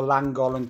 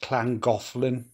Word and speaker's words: Llangollen: this one is on the langolen canal I haven't pronounced that right I think it's pronounced Clan gothland somebody will tell me if I'm wrong but I think that's how it's pronounced uh somewhere on the